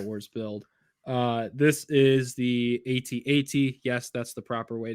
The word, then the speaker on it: AT-AT: This is the AT-AT.